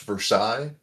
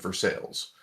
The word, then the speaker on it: Versailles: my town called it's it should be pronounced Versailles, but everyone calls it for sales.